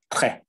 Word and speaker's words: très: You don't pronounce the S at the end. It's just très.